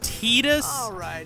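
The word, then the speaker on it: Tidus: what I know which his name is pronounced teetus but I call him Titus because titãs sounds like tedious and I can't unlink the two so Titus for me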